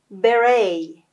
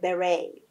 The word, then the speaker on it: beret: beret. دقت کنید که تی تلفظ نمیشه. beret.